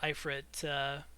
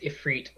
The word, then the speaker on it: Ifrit: Yeah, it's supposed to be an Ifrit, which is usually spelled like E-F-R-E-E-T. So, yeah, like, I think that's actually the correct way to pronounce his name, but Okay. apparently I say it wrong.